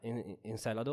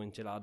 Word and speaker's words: Encelado: dove è praticamente certa encelado o encelado a seconda di chi lo dice e è sentiamo l'est